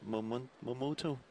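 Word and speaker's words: Momota: I think I'm pronouncing it right. Momoto. Because it sounds like a motor.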